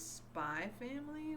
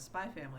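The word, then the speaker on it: Spy × Family: my favorite manga is spy family with like a little like hunter hunter x between spa and family i've never understood why you're not supposed to pronounce the x but okay um but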